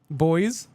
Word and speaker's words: Boise: The Boisey. How do they say Boisey in Oklahoma? Oh no. How do you say Boisey in Oklahoma? I'm I'm I'm intrigued now. I'm intrigued. Boys, that that makes sense.